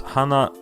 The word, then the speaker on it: 花: The word flower is hana in Japanese.